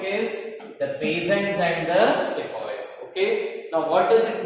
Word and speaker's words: sepoy: Now sepoys is a name or an anglicized version of सिपाही. हिंदी में बोलते हैं सिपाही. ठीक है, English tone instead of सिपाही they used to pronounce it as sepoy.